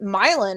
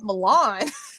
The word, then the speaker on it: Milan: Very Greek, Mediterranean, Italian areas, but they pronounced it Milan, and I kept calling it Milan. And they kept correcting me.